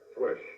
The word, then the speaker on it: WESH: Pronounced as a word. Yes. Rhymes with mesh. Wesh.